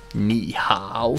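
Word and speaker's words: 你好: Entonces, cuando tenemos dos tercer tonos juntos, el primero de esos tonos se convierte en el segundo tono. Por ejemplo, ni hao, ni hao. Ni hao suena difícil de pronunciar y está raro, entonces cambiamos el ni y quedaría ni hao.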